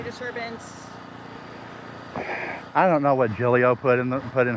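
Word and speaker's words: Giglio: I don't know what Jillio put in the put in her report. Okay. It female. Officer Jillio. Yes. or Gigglio if you want to do the southern version.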